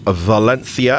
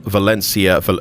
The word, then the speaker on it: Valencia: And here she is on stand one at Valenthia airport. Valenthi. See, I'm I'm doing the pronunciation correctly for our Spanish viewers. And we're going to take a quick flight today from Valencia.